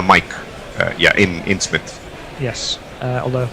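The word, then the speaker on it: Psmith: uh yeah in in Smith yes although I'm sure the p is silent although jofo again flashes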